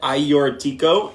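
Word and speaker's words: Agiorgitiko: can see that yes that is how you pronounce that iortico and Moscow Valero which are the traditional great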